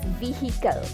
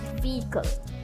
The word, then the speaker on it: vehicle: And we often say this as vehicle, vehicle, but the H is silent. It's vehicle, vehicle.